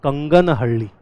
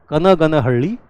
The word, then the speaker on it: Kanaganahalli: It is not Kanganahalli. I have seen many people mispronouncing it.